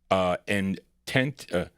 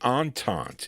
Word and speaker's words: Entente: Their first release came out in 61 on the Intent, what is that? In the Intent label, okay? And I'm sorry, Entente is how you pronounce that. Entente label.